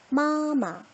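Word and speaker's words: 妈妈: 그래서 뒤에 있는 마는 경성이다 라고 우리는 이야기를 합니다. 소리 한번 내볼게요. 마마, 마마.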